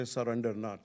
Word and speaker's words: Surendranath: If you get my name wrong, you can say Surendranath, so that will make Surendranath, yeah, yeah. Have good. Yeah, I said it right, as it turns out. Surendranath.